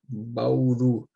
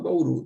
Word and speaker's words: Bauru: uma que não é ess acentuada aqui ó Bauru ó Bauru Bauru gente é uma maxito né